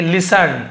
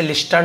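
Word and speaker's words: listen: तो जो सन्यासी थे लिसन इसे लिस्टन नहीं पढ़ेंगे लिसन यानी सुना टी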